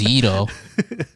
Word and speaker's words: gyros: Mediterranean yeah Mediterranean Gyros first of all it's pronounced Ito and they're delicious they're very good it's so